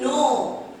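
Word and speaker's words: know: আচ্ছা আরেকটা দেখি, নো। নো মানে দেখো, নো উচ্চারণটা কি হচ্ছে? এন দিয়ে হচ্ছে, তাই না? এন ও, কিন্তু এখানে কিন্তু উচ্চারণটি হবে নো দিয়ে হবে উচ্চারণ, আর লেখাটা হবে কে দিয়ে।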